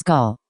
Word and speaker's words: Gul: you miss g dot she pronounced her name wrong it was Gul almost like ghoul it was understandable however